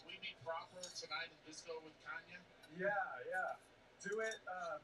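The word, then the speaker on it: Canha: into politics all right pronunciation of your last name oh it's kanye technically portuguese okay interesting we learned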